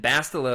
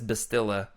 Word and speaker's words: Bastila: girl in the end bastila of course or if you're freddie who says bistilla like he doesn't know what he's talking about isn't that how you